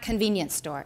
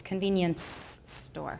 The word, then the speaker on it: convenience store: example convenience store and remember it's not convenience store it's convenience store okay so I'll show